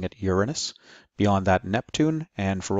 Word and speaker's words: Uranus: tutorial Beyond Saturn is Uranus and yes I'm pronouncing it Uranus beyond that Neptune and for Old Time sake